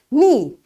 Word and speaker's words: knee: Knee. Your knee. So this K is again silent.